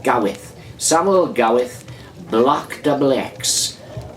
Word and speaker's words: Gawith: How do you pronounce it? Is it Gowith or Gareth? Gowith.